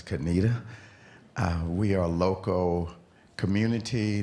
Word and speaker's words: Conetoe: Male Speaker: Yes, I'm Richard Joana from North Carolina, from a place that C-O-N-E-T-O-E. Most people call it "Conetoe" but it's "Kuh-nee-tuh".